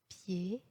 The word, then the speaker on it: pied: الحرف D في أواخر الكلمات هو حرف صامت إذن لا ينطق. Pied, sourd, accord, nid, fan, rang, grand-père, grand-mère.